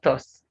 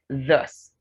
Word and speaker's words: thus: This word is not thus. It's thus.